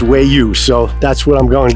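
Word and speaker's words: Waya: spelled w-a-y-a but they say it's about it's pronounced way you so that's what I'm going to go by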